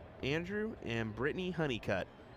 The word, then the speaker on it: Honeycutt: It's Andrew and Brittany Honeycutt. I think that's the proper pronunciation. Yep. Hunnicutt.